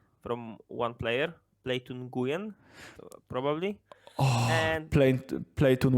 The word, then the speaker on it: Nguyen: one player play to Nguyen probably and playing play tune when like it's basically I think the pronunciation is is some some close to nuwen or when even uh it's definitely I